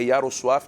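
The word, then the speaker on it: Jarosław: polonês eu vou falar como é que pronuncia meu nome é iaro suaf mas todos me conhecem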